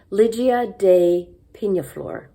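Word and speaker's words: Lygia Day Peñaflor: is true by uh i learned how to pronounce this since last week i said it wrong last week lydia de pinaflor um this is a really unique and exciting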